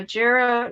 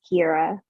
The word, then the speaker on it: Kira: right next is uh jera okay judge I'm here am I pronouncing your first name correctly no it's okay though no one does it's not an easy one it's Kira yes ma'am all right